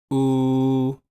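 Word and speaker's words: を: it at the bottom of our chart he he o o this kinda doesn't have a consonant so it's pronounced just like o what what well it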